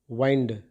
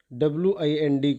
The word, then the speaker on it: wind: verb also, and as a verb it is pronounced as wind. Verb के तौर पर WIND को हम wind प्रोनाउंस करते हैं.